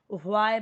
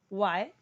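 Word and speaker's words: why: को कैसे बोलना है अब बहुत लोग इसे ना व्हाई बोलते हैं कि यह एच ह है लेकिन यह एच ना साइलेंट रहता है अब जैसे बहुत सारे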